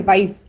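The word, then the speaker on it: weiß: ठीक है, अभी आप देख सकते हो वाइस का स्पेलिंग दो टाइप से किया गया है, प्रोनाउंसिएशन सेम है वाइस, या तो हम एस वाला जो हाइसिन वाला होता है ना उसमें वो यूज कर सकते हैं, या फिर वाइस। Both are correct for white.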